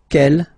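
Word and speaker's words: quel: way to pronounce them Kell masculine form here will be pronounced exactly as the feminine form here K so only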